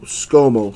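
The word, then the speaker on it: Scomo: name is Scott MO you spell it SC o mo skomal sound that out baby just like they taught you in school so 299 Archie Manning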